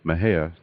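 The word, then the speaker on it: Mexia: theater 923 East Main Maha Texas Maha is spelled m x i a the zip 7666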